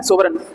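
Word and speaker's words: sovereign: ये जी साइलेंट रहती है, ठीक है, सोवरेन।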